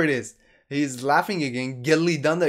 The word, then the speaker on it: Gillidanda: is he's laughing again gelli danda is more correct oh he he's telling me about the pronunciation of gilidanda you have to emphasize on two else then it would be perfect there and he says